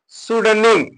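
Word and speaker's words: pseudonym: silent इन अब देखते हैं प कहां पर साइलेंट होता है यहां पर देखि क्या लिखा है सुनिम य साइकोलॉजी यहां कर्ज यहां पर रेसिट अब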